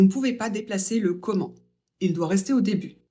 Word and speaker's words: comment: cours pourquoi tu ris comment pour un moyen ou une manière pour la prononciation e et n ça fait en on ne prononce pas le T à la fin sauf pour comment allez-vous c'est une exception on